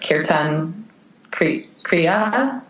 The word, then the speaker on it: kirtan kriya: So the meditation that I do currently, I do it every day, the 11-minute kirtan kriya. Mm-hmm. Is that how you pronounce it, Chelsea?